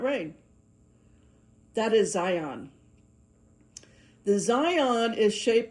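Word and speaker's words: Zayin: It's spelled Z A Y I N. I call it Zion.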